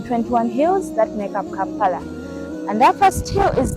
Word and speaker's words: Kampala: So from that, they got the name of the city Kampala. So let us see on the word camp was replaced with letter K, which sounds the same. Otherwise, it could be pronounced as Champala.